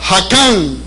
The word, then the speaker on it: Hakam: Y también la palabra Hakam se escribe K de kilo, J-A-C-A-M. Hakam.